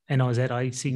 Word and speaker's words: Nozick: How do you pronounce his name? Is it Nozick? N-O-Z-I-C-K.